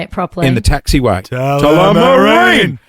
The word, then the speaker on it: Tullamarine: Tullamarine. Tullamarine.